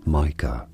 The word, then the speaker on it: Micah: haunted by a ghost Micah Mah a biblical name Micah yes this is how it is generally pronounced in English M wants to record